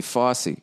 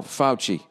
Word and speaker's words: Fauci: you present pronounce f-a-u-c-i i was gonna say fosse who's dr fauci i know that name that's not the supreme court person who just died oh fouchy ah fouchy you gotta stay in